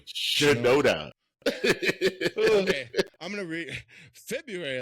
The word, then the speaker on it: Shinoda: Shinoda. Shinoda.